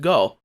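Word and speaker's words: 五: go rangers fun fact the word five in japanese is pronounced go so it makes sense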